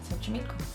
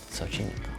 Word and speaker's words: Xochimilco: And I'm pronouncing it correctly. Xochimilco. Xochimilco.